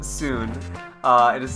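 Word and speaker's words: Tsuin: even know how to pronounce it it's called soon uh it is spelled t-s-u-i-n and it's basically a horror indie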